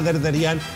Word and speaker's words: Derderián: Mariana seguimos conversando con Mariana derderián así se pronuncia tu apellido Sí tal cual fíjate hay gente que